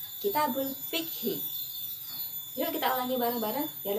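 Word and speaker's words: كتاب الفقه: Buku fikih dalam bahasa Arab diucapkan Kitabul Fikhi.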